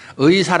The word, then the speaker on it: 의: 해도 틀리는 건 아니에요 의 발음은 에 이 얘기다 3가지로 발음할 수 있어요 상황에 따라서 다만 의사 라든가 의견이다 할 때 앞에 올 때는 반드시 의 라고 발음해야 되요 그러나 두 번째 이하의 올 때는 특히 조사 로서는 애라고 많이 하잖아요 아까 교독문 일부 또 여러분들도 하나님의 영광이라고 이제 하나님께 영과 이렇게 않은 잖아요 그게 보편적인 거예요 마음에 안 되는 게